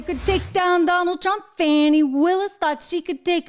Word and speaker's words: Fani: Fani Willis thought she could take him down.